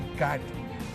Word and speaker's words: CAIT: जिसका नाम है CAIT, जिसको प्रोनाउंसिएशन करेंगे कैट, confederation of all India traders, right sir?